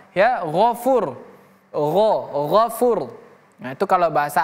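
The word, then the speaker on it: غَفُورٌ: Ini huruf ghain. Huruf ghain berbeda dengan huruf go. Misalnya kita baca go, gofur, beda, bukan gofar tapi ghaffar. Ya, ghafur.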